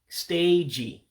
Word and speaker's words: steeji: So stage would be steeji. Steeji is stage.